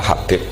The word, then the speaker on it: Habib: Itu di harokatnya kitab itu ada yang nulis Hubab. Tapi yang benar, oh enggak, yang benar itu bacanya Habib.